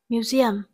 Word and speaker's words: museum: Number 1, A, museum. Museum, từ này có trọng âm rơi vào âm tiết thứ hai.